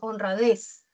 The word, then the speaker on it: honradez: La sílaba tónica tiene un tono más alto que las demás, por ejemplo, en honradez, des, es, tiene un tono más alto. No lo tiene no. Honradez, no, sino honradez.